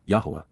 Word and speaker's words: Yahowah: amazing accomplishments and outstanding achievements even miraculous fulfillments yahwah Yahweh the proper pronunciation of the name of eloah God as